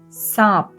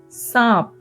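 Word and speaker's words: साँप: And the last word for today is the word for snake, which is saap. Saap. This too has a very slight N sound.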